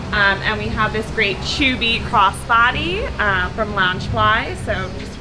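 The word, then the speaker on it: Chuuby: So this is a new breakout character for the attraction, and his name is Chubby. It's pronounced spelled C-H-U-U-B-Y, and he is just adorable.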